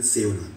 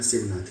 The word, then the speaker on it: शिवनाथ: जो एडवांस किताबें हैं थोड़ी सी, मैंने उनमें देखा कि शिवनाथ वर्ड यूज करा है राधर देन सेवनाथ, बात एक ही है, उच्चारण शिवनाथ ही है।